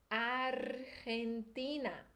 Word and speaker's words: Argentina: vai ser hum hum Esse é o som do g e j em espanhol é um som mais aqui pro fundo da garganta Então essa primeira parte aí agora juntando essas duas sílabas ficaria Argan argan e agora o que a gente lety em português a gente vai ler ti lembra do nordeste do Brasil o som e City argentina argentina Essa é mais complicadinha